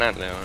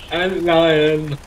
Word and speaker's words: Antlion: An Antleon. There's two of them. Antleon King. Antleon. Antlion. Oh, I don't know how you. Yeah. Run. It's spelled Ant and then Lion.